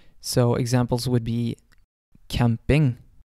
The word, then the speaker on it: camping: Typically, however, it will either sound like an S or a K sound. So examples would be camping, camping.